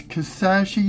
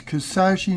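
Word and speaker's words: Kisatchie: the main color okay you people up here y'all pronounce these quarters this park or wrong this is Louisiana is kasashi National Park there are too many different wrong pronunciations it's kasashi National Park knowing National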